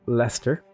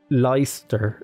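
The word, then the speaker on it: Leicester: reassign him over to Lester I know that says leister lice light like Esther but it's Lester or yeah it's Lester is how you say it so let's improve that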